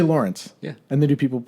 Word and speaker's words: Lawrance: get comfy laurance hello I'm I'm using the French accent for